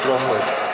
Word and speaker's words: Crawford: And then my surname is Crawford. Yeah. Okay. But obviously I know some Zulu accents, they'll say the Crawford. So yeah, pronounce it as Crawford.